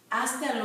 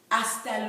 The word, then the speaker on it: hasta: Hasta luego. Hasta luego. Again, we have the silent H at the beginning, which is not heard at all.